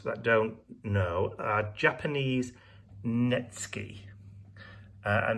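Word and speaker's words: netsuke: don't know uh japanese netsky and it's it's spelt n-e-t-s-u-k-e so nitsuki a lot of people call them nitsuke but they're actually japanese netsky so these were the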